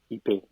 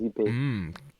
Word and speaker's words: Ikpe: While Facebook is just with my last name, Ipe, IKPE. The K is silent. Ipe.